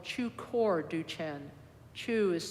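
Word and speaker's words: Chökhor: holiday of the Tibetan lunar year is called Chu core duchen Chu is spelled c-h-o core k-h-o-r and chukor means Dharma wheel and so it's the Turning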